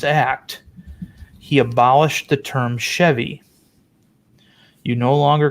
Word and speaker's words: Chevy: come on you know chevy rhymes with heavy that's one of the